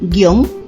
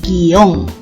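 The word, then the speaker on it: guion: tilde o sin tilde esta palabra tiene doble grafía porque se articula de dos formas algunas personas pronuncian guión y otras pronuncian en dos sílabas y dicen guión pero después de la edición del 2010 de la rae se suprime dicha opción es decir la segunda guión porque se considera que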